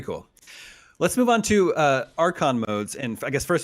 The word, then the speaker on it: Archon: Let's move on to Archon modes. And I guess, first of all, am I pronouncing that correctly?